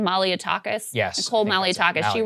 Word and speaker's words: Malliotakis: Malliotakis?